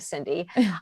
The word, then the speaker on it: Cyndi: easy to remember except my name is spelled weird c y n d i so just look for the weird spelling of Cindy I have I do